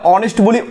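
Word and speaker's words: honest: এই দেখো এটা এইচ ও কিন্তু ভাইয়া, কিন্তু এর উচ্চারণ কি আমরা হ বলি না অনেস্ট বলি?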